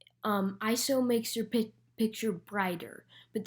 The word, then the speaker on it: ISO: ISO, pronounced ISO, not ISO, because it's not an acronym. ISO makes your picture brighter, but there is one catch.